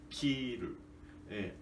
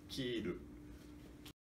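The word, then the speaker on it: 切る: E contrário, cortar, cortar significa, nós pronunciamos kiru, agudo, grave, kiru.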